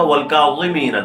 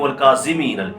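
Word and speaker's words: والكاظمين: صحیح تلفظ کے ساتھ، جیسے میں نے کہا والکاظمین، تو لوگ کر دیتے ہیں والکاظمین، زی زا، تو زا یا لال پڑھتے ہیں، یہ وا ہے.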